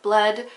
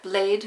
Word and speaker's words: Bled: So the first one is Lake Bled, or Lake Blade, which I think is how it's pronounced over there.